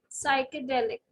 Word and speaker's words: psychedelic: is silent in this ps and psychedelic where again p is silent p n a combination